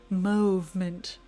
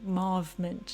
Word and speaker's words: Mauvement: Next up we have the shade Natural Mauvement, or Mauvement, depending on how you pronounce mauve/mauve. Both are correct, by the way.